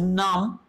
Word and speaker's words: numb: Next is numb. Numb again, there's a B is silent, numb.